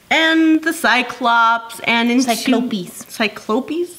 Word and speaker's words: Cyclopes: Cyclopes? There's Cyclops. Yes. That is the... Cyclopes. That is the plural form.